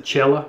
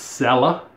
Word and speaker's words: Cella: never used it sella i've always pronounced the chella but i was corrected it's sella crema de barba that's